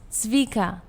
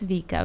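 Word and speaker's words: Vika: with my name lately people think it's zika Vicki which people spell it sometimes maika Kika whatever it is people will say anything but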